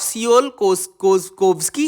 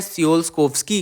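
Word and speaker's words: Tsiolkovsky: Beat the trap of सियोल-कोव्स्की equation, है ना। तो यहाँ पे मैंने इसको टी साइलेंट माना हुआ है ना, TSI में टी साइलेंट किया हुआ है मैंने। तो आप देख सकते हैं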